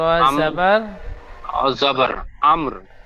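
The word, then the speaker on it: أمر: র আম- জাবার, জবর আমর, জি হামজা মিম র জবর আমর, উচ্চারণটা হবে ফিহা বিইذনি রাব্বিহিম মিন কুল্লি আমর।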